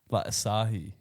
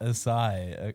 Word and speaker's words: Asahi: And then Olivia was like Asahi, and I was like, maybe I'm pronouncing it like the beer company, Yeah, Asahi. Yeah. not Asai.